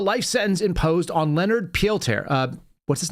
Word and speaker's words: Peltier: also commuting the life sentence imposed on Leonard pelter uh what's his name Peltier it's hard for me to pronounce that it's a French name he's an